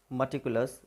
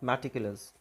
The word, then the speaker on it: meticulous: The correct pronunciation of this word is meticulous. It's not meticulous.